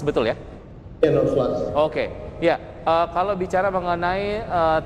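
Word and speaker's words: Nodeflux: Ini kita bacanya Node Flux, betul ya? Ya, Node Flux.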